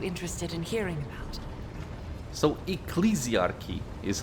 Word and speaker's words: Ecclesiarchy: exactly are you interested in hearing about so ecclesiarchy is how you pronounce this okay learn something new um they